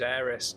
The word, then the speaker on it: Aerith: the game and I've always played it was Eris so I find it really if if you